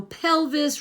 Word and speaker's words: pelvis: So pelvis rhymes with Elvis.